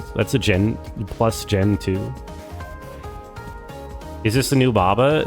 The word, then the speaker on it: Gentoo: Honestly, it rhymes with you. Gen two rhymes with you.